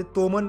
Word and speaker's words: toman: आता स्पेलिंग बघा इथं TOMAN टोमन असं लिहिलेलं आहे त्या ठिकाणी. आता ते टोमन पण उच्चार होऊ शकतो किंवा टोमन पण उच्चार होऊ शकतो.